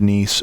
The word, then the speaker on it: Nice: appearing at the end of on is not pronounced I hope that helps and last but not least I wanted to talk about niece which I really thought was a wonderful home